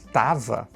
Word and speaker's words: tava: e estava virou tava. No português falado, o verbo estar quase sempre perde a primeira sílaba.